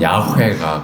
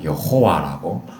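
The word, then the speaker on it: יהוה: 그래도 대략적으로 뭐 히브리어 발음법에 의해 가지고 보통은 야훼가 가장 정확한 발음이라고 이야기하고요. 또 아도나이라고 하는 주라고 하는 그 의미의 단어, 그 단어로 대체해서 많이 이야기하다 보니까 이 문자를 아도나이의 그 모음하고 엮어가지고 여호와라고 발음을 하기도 합니다. 그래서 둘 다 맞는 거예요.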